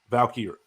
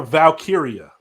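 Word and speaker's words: Valkyria: Valkyrie, I can't pronounce it. Lyra Valkyrie. Lyra Valkyia.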